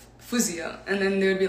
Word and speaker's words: Faouzia: don't know why like they would be like fouseya no how do i say it like they'd be like oh how do you actually say it and i'd be like physio and then they would